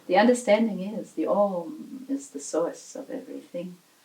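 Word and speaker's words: ॐ: Homogeneous blend of A and U is Om. So Om, when you pronounce Om, you must be feeling still that it is A and U. Both A and U together at the same time, in the same place.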